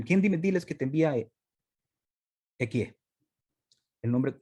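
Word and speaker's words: אהיה: Cuando muchos le preguntan, ¿quién diles que te envía Equie? El nombre, la pronunciación correcta es Ejie, pero para no mencionarla, ocupamos Equie, con caca.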